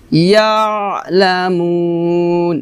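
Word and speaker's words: يَعْلَمُونَ: ওয়া মিম মা লায়ালামুন, ইয়া আইন জবর, ইয়া আইনটা হলকে মাঝখান থেকে চাপ দিয়ে উচ্চারণ করতে হবে, ইয়ালামুন এভাবে। আবার বলি সুবহানাল্লাযী, সুবহানাল্লাযী খলাকাল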